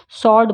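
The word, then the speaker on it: sword: में W silent है स्ड सर्ड बोलते हैं स्वर्ड नहीं बोलते हैं टू में डब्लू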